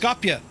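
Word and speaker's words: Skopje: It's pronounced Scopia.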